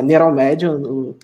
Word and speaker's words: Neuralmed: Sim, então é Neuralmed, a pronúncia, mas tá valendo.